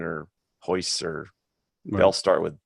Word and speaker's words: Royce: camera froze Hickson or hoists or they'll start with J right anyway well it spelled with an R but it's pronounced as an H right which makes a